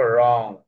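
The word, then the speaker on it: wrong: Double you silent হয়ে গেছে। তাহলে র অ র অ উং রং রং।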